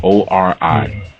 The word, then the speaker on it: Ori: One of the consciousness that were created was called Ori, which is spelled O-R-I, Ori.